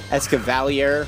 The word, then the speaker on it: Escavalier: That's right, I said it with the French spelling. Or not French spelling, but French pronunciation. Whatever. Escavalier, however you want to say it.